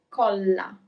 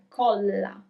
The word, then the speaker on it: colla: And the solution is colla. So you need to stress a little bit where you have the double L, colla. There are two L's, okay?